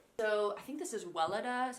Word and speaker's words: Weleda: So I think this is Weleda is how I pronounce it.